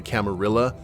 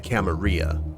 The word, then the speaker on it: Camarilla: the camarilla and then you have the camaria which is kind of like the spanish uh pronunciation of it then you have primogen primogen and there's not really a wrong way to say a lot of these terms what's a code red